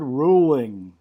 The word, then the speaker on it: Ruhling: last name is it Ruland ruling uh like a ruler with h is silent r u h l i n g got it Dr Richard ruling perfect so um Dr